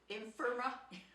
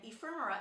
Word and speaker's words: ephemera: have in boxes called Infirma. I can never pronounce that right. Hang on here. Infirma. Is that it? I think so. Now let me spell it out for you. Anyway, I think it's called spelled E-P-H-E-M-E-R-A. Ephemera.